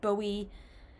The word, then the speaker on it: Bowie: I've said David Bowie, which is wrong. People told me it was David Bowie.